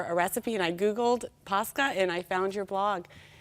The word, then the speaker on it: Pascha: And hold on, that sounded like pasta, and that's not what it is. Easter bread is? Pascha. Pascha. It's spelled P-A-S-K-A, and it is delicious.